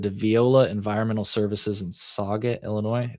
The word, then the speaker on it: Saget: 10,720 pounds of it though were transported to Viola Environmental Services in Saget, Illinois. Did I pronounce that right? Yeah. Saget. Saget.